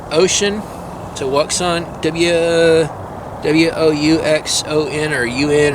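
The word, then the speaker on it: Wouxun: It's pronounced Ocean. So Wuxon, W-O-U-X-O-N or U-N or something like that, but it's pronounced Ocean. It's another ham radio, kind of like the Baofeng U5R sort of.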